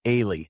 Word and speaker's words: Ailey: Yeah, I think I was mispronouncing her name. I was calling her Allie Briggs, but it's actually I was corrected. It's Ailey. Ailey.